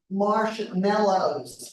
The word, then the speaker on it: marshmallows: we marshmallows Mar we usually pronounce it in Oklahoma anyway marshmallows even though there's that a there we say Mar marshmallows they get black and